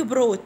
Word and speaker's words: brought: يحضر bring brought، برينج بروت، هنا جي اتش حروف سايلنت، تكتب ولا تنطق.